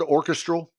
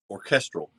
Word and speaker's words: orchestral: but there's an orchestral is that the word orchestral orchestral okay i put the wrong syllable in the wrong emphasis um there's an orchestral